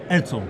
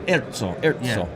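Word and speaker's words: ERCO: Erzo. Erzo.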